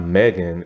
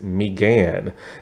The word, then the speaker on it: Megan: That's actually how you say her name. It's not Megan, it's Megan. And so, like, she actually directed this episode and everything.